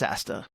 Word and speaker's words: Asta: Astor? Yeah. Maybe it's Astor. I think they just pronounced it Asta. I think it's Asta. It's Asta.